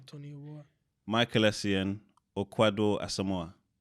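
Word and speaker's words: Kwadwo: Michael Essien, or Kwado Asamoah? That's a quadro. It's Quadro. The way they did it on the net.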